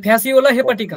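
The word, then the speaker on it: Fasciola hepatica: যকৃৎ ক্রিমের উচ্চারণ কি? বলো। হেপাটিকা। এই যে ফ্যাসিওলা হেপাটিকা, বলো ঠিক আছে?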